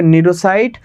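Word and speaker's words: cnidocyte: আমার প্রোনাউন্সিয়েশন হবে নিডোসাইট।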